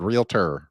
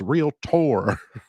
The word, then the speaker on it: realtor: would bother him when people said real T he said it's real tour anyway real tours that's